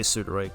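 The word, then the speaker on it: pseudoroid: Oh, P is silent in pseudo. I always I I always I always heard it with uh I always heard it pronounced while saying the P in its in its um in its word. Kind of weird. Yeah, I guess. But I guess I'll say it. I guess I'll say sudoid because whatever the the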